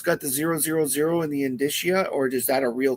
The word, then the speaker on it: indicia: I don't know how people pronounce it. I always pronounce it indicia because that's how it would be pronounced in Latin.